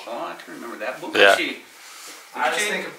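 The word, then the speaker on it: 不客气: Bukachi. Bukachi. Oh, I can remember that. Bukachi.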